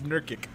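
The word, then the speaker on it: Nurkić: Jokic how to pronounce Jerkic. that. See, it's Nurkic.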